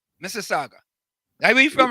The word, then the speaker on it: Mississauga: Let me say it correctly, Mississauga. Mississauga.